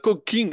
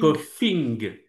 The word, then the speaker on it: coughing: Ah, cooking. Ah oui, cooking. Ok. Comment tu le C-O-U-H. prononces, toi? Cooking. Cooking. Coughing.